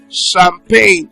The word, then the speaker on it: champagne: Shape, shop, champagne. It's not pronounced champagne, it's champagne.